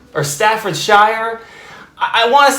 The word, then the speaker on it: Staffordshire: joyride all the way across the pond in staffordshire or staffordshire i want to sound fancy when i say